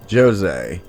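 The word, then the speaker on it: José: hear names like this which you may naturally think is pronounced jose but in portuguese is actually said as jose i normally don't mention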